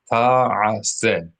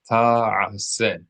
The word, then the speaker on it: ta'ase: Number four, ta'ase, ta'ase. Make sure you are pronouncing all three syllables.